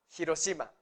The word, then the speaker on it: Hiroshima: hiroshima se dieron cuenta están pronunciando el h la h no es muda en el japonés jiro sima no ir encima digamos